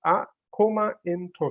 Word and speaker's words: Akoma Ntoso: standards for different sectors so how do we pronounce a comment oh so it's a coma intro so that is the right way to pronounce